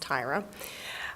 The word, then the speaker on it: Tyra: is up next good evening my name is Tyra yes it looks like Terra but it's pronounced Tyra I've been born and